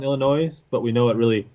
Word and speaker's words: Illinois: rick we all know the s is silent illinois but we know it